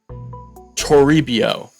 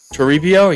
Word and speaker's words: Toribio: is third baseman luis toribio turibio yeah i think that's how you say it b potential at 58